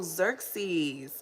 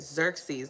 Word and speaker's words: Xerxes: do sometimes exer x x e s pronunciation yeah xeres oh Xerxes okay yes that's awesome okay got it Xerxes let's see it again Xerxes okay Xerxes okay